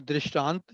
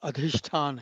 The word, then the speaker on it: अधिष्ठान: इट इज नॉट दृष्टांत, इट इज अ नॉट आ, अधिष्ठान नहीं है, अधिष्ठान है।